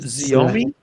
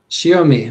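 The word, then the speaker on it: Xiaomi: This is the I will never be able to pronounce that word and I hate not being able to pronounce words. Is it Zomi? Shiomi.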